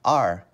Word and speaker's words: our: The other way we can say this word is like the letter R. Just R. So this word, we can pronounce it like our, or we can pronounce it like R. Same thing. We just say it different ways.